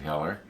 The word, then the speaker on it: Heller: So I checked, and I've known for years that I think it's Heller makes I think you pronounce it Heller.